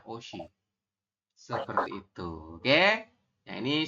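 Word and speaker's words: 옷이: Ada yang masih ingat dibacanya menjadi? Oshi.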